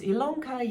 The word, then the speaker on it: Ilonka: illanka my name is ilonka yes it's spelled with an eyeball pronounced with an e and you are here